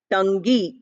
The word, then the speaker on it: tongue: Although it is written, its spelling is Tongue, we don't pronounce it as tongue. We pronounce it as tongue. Sound is the combination of n and g.